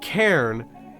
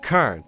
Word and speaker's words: Karn: I pronounce certain words the biggest one was when I said Karen instead of Karn which to be fair